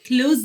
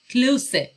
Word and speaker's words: close: ببینید این close نیست، close. close با تلفظ سه به معنی نزدیک به.